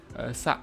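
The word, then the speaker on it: 差: Kemudian ada sa, ini bacanya sa ya. Sa, nggak ada ku-nya.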